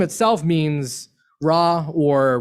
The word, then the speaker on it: Ra: that name itself means raw or rey some historians will often spell or pronounce uh raw as as ray r-e versus r-a same god um and